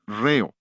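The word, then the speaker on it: ῥέω: Y una de las más interesantes de esas palabras es la palabra de la que viene nuestra palabra, ritmo. Es la palabra griega reo, R-H-E-O.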